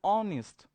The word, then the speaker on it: honest: going to focus the sound and sound is honest so it started with all as is silent here at the silence here so we are going to use according to the are so honest man so obviously it takes you can see